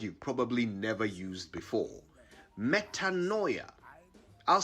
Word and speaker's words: metanoia: here's a word you've probably never used before metanoia i'll spell it m e t a n o i a metanoia it's a noun and it means a